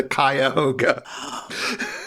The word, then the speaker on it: Cuyahoga: Because famously, REM has a song about Cuyahoga where they pronounce the name of the river wrong throughout the song. It is the Cuyahoga.